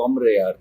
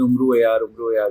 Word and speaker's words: Umro Ayyar: Origin story है और अगर आप जो इसकी एक्चुअल प्रोनाउंसिएशन उम्रो यार की देखें तो वो अम्र यार है, जो लेकिन हम लोगों ने उम्रो यार कहना शुरू कर दिया और उम्रो यार बन गया।